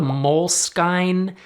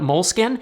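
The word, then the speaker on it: Moleskine: bad name I think if they just removed the E and called it mol skin it would be so much better or if they said it is 100% pronounced mol skine because the E implies a harde you get the idea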